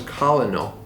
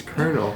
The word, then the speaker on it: colonel: yeah all growing up i thought it was colonel so that's how i would always say it people are like that's not what you say it's colonel it's like the ah that's not how it's spelled let me tell you